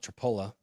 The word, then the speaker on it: Tripoli: They have a town called Tripoli, but they call it Tripola.